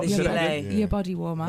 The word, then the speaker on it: gilet: gilet. Your body warmer. They spell it Gillette, but it's It's gilet.